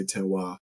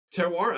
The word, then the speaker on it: terroir: But so it's a French term, terroir is generally how it's pronounced in English. The French say terroir. But terroir, actually, what first fascinated